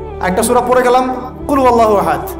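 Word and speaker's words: قُلْ هُوَ اللَّهُ أَحَدٌ: আল্লাহু আহাদ মানে কি এটা উচ্চারণই বা কেমন করে করতে হয় কুল বলুন হু আল্লাহু আহাদ তিনি আল্লাহ এক এই যে কুলহু আল্লাহু আহাদ অনেকে বলতে পারে না কুলহু আল্লাহ কুলহু আল্লাহু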